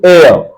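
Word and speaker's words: heir: ये है आर, आवर कहते हैं, लेकिन स्टैंडर्ड प्रोनाउंसिएशन में आर है। 2 आवर, 3 आवर्स, 5 आवर्स, घंटे। दिस वन इज एयर, इसका मतलब उत्तराधिकारी होता है।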